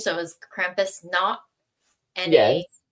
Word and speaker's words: Nacht: So, it was like Krampo, we did the German pronunciation. So, it was Krampus Nacht.